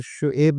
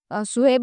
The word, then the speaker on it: शुएब: सब जी जनाब, ये सुहेब चौधरी, इंडियन ज्यादातर शुएब लिखते हैं, शुएब ज्यादातर है। स्पेलिंग यही है, सुहेब लिखो या शुएब लिखो, आपके ऊपर डिपेंड करता है, कुछ भी पढ़ो।